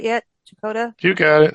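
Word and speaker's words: Checotah: Chakota? You got it, Shakota.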